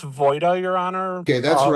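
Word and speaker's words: Woida: Is it Woyda, W O I D A, correct? It's pronounced Voyda, Your Honor.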